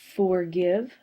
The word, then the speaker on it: forgive: vowel consonant e exception forgive is a two syllable word and again we have I that's a short sound with a silent E this is a vow